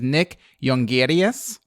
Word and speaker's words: Nick Jongerius: He's Dutch, so I'll pronounce it in a Dutch way. His name is Nick Jongerius.